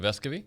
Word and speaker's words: Vescovi: Is it Vescovy? Uh-huh. Is it? Yeah, it is. Yeah, unless the rest of the country is saying it wrong and B are saying it right. But with Vescovy and I think the Meshack guy's pretty good. But Vescovy is how I'd say in Spanish.